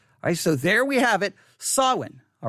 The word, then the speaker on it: Samhain: that you know exactly how to say it sawin sawin all right sawin now again it's spelled s-a-m-h-a-i-n sawin now why am